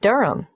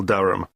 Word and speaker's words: Durham: how do you spell Durham d r h a m of course I should know that but it's just one of those names that sounds quite different from the way you spell it it is confusing I've